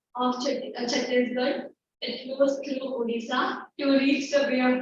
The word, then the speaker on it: Odisha: Both are spelling different, but they both pronounce it Odisha.